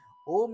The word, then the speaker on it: Om: as of the individual when om is pronounced a merges into U and it becomes o this symbol of the